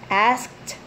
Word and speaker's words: asked: okay so the reporters or the reporters asked asked okay so there's CD and this sword okay